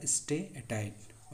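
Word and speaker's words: steatite: था स्टेटाइट ठीक है थ उच्चारण अच्छा से कर लीजिएगा स्टेटाइट ओके तो मानक मोहर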